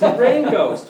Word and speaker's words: Reign Ghost: Well, first of all, it's spelled R-E-I-G-N. It's Yeah. not like rain from the Yeah. sky. It's rain as in the king's reign.